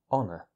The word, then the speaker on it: honour: just uh o uh honor and that's it so the H is completely silent and in standard British English so is the r so look at that